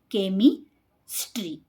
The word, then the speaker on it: chemistry: K, A, K, E, me, chemistry, chemistry. Character, character. Scheme, scheme. School, school. So, in these words, we pronounce CH as K sound.